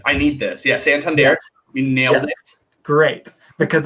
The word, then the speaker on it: Santander: immediately i was like i need this yeah santander you nailed it great because i i've been